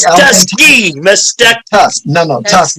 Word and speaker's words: Tuskegee: Oh, you're talking about Tuskegee. Mysticky. Yes. Not musty, it's Tusk. T like elephant Tuskegee.